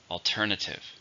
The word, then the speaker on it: alternative: possibility to countable noun how many syllables are an alternative for stress in a second alternative are there any alternatives